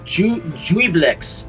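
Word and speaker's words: Juiblex: Jubilex.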